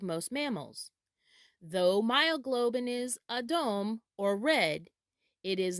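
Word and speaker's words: אדום: colors is in hebrew the color red is pronounced adom adom adom or red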